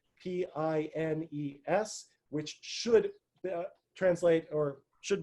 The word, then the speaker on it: Pines: from hebrew university his last name is spelled p-i-n-e-s which should translate or should be pronounced as pines but apparently in his life he was insistent on being called penis um and i think that shows that academics